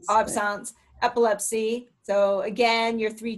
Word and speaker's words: absence: astrocytes the last being is it absence is that how you pronounce it yeah it's supposed to be french absence epilepsy so again your